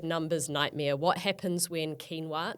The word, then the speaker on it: quinoa: nightmare what happens when quinoa not pronounced quoa and rice have a